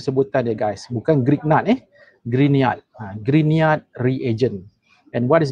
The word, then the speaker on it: Grignard: Bukan Grignard the correct pronunciation is Grignard. Dia macam ni tau. Kalau saya tulis dekat screen ni, sebutannya should be green, as in green, warna green tu, Grignard.